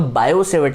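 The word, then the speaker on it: Biot-Savart: है Biot सवर्त लॉ can always body scooty silent है तो बायो सेवर्ट लोग कहते हैं पर मैं तो बायोट सवर्त लॉ करता हूं क्या फर्क पड़ता है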